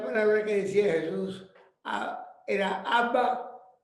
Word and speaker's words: Abba: Y él me dijo que esa era la verdadera pronunciación, Abba.